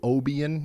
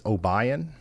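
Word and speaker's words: Obion: I'm talking about and it's not o Oban it's obayan is that right oh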